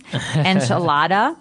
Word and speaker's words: enchilada: and just a warning you're going to hear me say the American pronunciation enchilada and you're going to